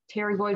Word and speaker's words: pterygoid: called the pterygoid processes pterygoid with the silent p these guys are right